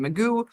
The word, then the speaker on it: Magoo: This is the state of Michigan versus Daniel Ryan Magoo.